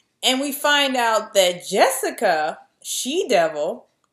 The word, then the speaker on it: Jessica: And we find out that Jessica, She-Devil, which is spelled Jessica, the J is pronounced with a Y.